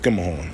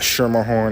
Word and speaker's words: Schermerhorn: Hoist Skimmerhorn. That's it. Not Schermerhorn, not Skirmerhorn, and all of that other dumb shit. Or Schermerhorn like the fucking train says. Nah, this Hoist Skimmerhorn, nigga. Skimmer, like S-K-I-M-M-E-R. Horn, nigga. Skimmerhorn. That's it.